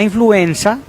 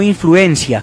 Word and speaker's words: influenza: todos tengamos en cuenta la influenza se escribe con zeta no influencia como a veces escuchamos que se pronuncia la influenza es un